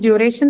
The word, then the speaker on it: duration: Okay, so that is duration. The second syllable is the one that is stressed.